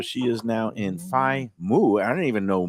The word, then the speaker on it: mu: So she is now in fi mu. I don't even know moo is one of the letters in the Greek alphabet. It's the m and it's not like a cow and it's mu.